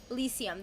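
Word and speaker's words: Elysium: file the fields of elisium elisium that's how you pronounce it I was not sure elisium the rare Heavenly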